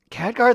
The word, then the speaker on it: Khadgar: your, or they're like, okay, it's Khadgar, and they're like, Catgar? And I'm like, no, not Catgar.